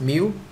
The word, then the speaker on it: mu: the symbol itself right this symbol uh the pronunciation is mu just like kilogram use you don't say kilo